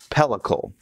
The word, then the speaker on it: pellicle: And now we are going to put it on a wire rack to dry, and it's going to get a pellicle, correct pronunciation.